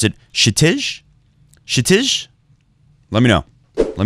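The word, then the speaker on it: Kshitij: The K is silent. But then some people commented below from India that in the Indian language, nothing is silent. There is no silent.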